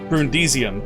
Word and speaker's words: Brundisium: haven't been able to build them before uh brundisium or brun brundisium there we go i actually said it right